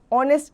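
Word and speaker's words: honest: a क्यों लगाया क्यों क्योंकि जो ए है वो साइलेंट है तो हम ओ ऑनेस्ट इसे पढ़ेंगे नाउ द आर्टिकल के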